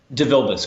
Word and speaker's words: DeVilbiss: So how do you pronounce the full name? DeVilbiss, DeVilbiss.